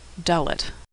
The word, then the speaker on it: Dalet: Dalet is pronounced like the D in door. Dalet.